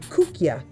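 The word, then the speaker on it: koekje: word cookie actually comes from the dutch word kookya that would be my camera operator who happens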